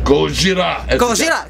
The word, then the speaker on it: Gojira: had lamb Agha Trivium Gojira am I saying it right Gojira it goes yeah sounds close it up as a Japanese say they say gojira but when I was